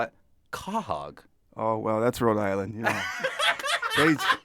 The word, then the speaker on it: quahog: Can you say correctly how to pronounce the second word in your glossary? 1, 2, 3. Quahog.